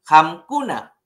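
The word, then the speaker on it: qamkuna: Nyuhanchik es más suave y Hamkuna es más fuerte. Por lo tanto, tengo que levantar o pronunciar, darle mayor tonalidad a la M.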